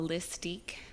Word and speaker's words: Lysstique: clothing boutique call the lists teak people pronounce it wrong but it's basically a twist on my name so my name is so lists and then boutique mystique mm-hm so yeah nice little